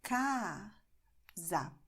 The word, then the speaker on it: casa: This is what you have in casa. So my mouth is very open, wide in ca, but then I close it a little bit to say za. Casa. It's the same letter, A, but it's open and then it's closed.